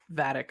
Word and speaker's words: Vadic: Vedic, I think her name is. Gotta make sure I'm pronouncing that right. Let me make sure. Vadic, yeah, I was pronouncing that right.